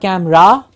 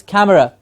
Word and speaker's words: camera: and like we said the schwa si am er a camera it's not camera it's not right at the end it's camera see the the schwa is